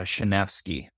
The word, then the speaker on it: Szaniewski: I butcher it yeah it's a tough one it's a shenvi shenvi are you polish I